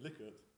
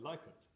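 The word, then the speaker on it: Likert: the US you find that people would say like it that's well we say Li it they say like it I think there's some evidence that liquor is the is the right way of pronouncing the word from the from the family so those Americans here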